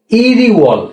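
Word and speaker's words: 일월: তো উচ্চারণ কি হবে, ইরি ওয়াল, হ্যাঁ, ই রুয়াল, হ্যাঁ, কি হলো, ই রুয়াল, হ্যাঁ, ই রু ইরওয়াল মানে কি, জানুয়ারি।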